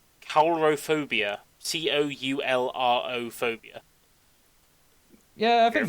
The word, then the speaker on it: coulrophobia: I don't know how you actually supposed to pronounce it. It's coulrophobia.